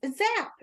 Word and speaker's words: Zapier: Like that's I mean, it's zap. You're zapping, right?